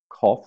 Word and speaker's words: cough: pronunciation always changes so cough we've got the off sound so oh ugh with